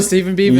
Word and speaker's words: Stephen Beaven: Oh, Stephen Beaven. Yes, and he says that is exactly how you say his name.